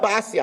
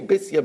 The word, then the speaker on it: Bisya: So, Bisya, Basya, I say Bisya because in Divrei Hayamim it's pronounced Bisya. Everybody knows her as Basya.